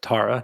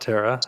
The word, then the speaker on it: TARA: And then for Tara Mind, which is pronounced Tara, not Tara, as Yeah, I've been Tara, reminded.